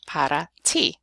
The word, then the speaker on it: para ti: over again, and eventually you'll be saying para ti, which is for you, para ti. So we do have the same sound in English. It's just that we use it to represent usually T's and T's and D's instead of R's.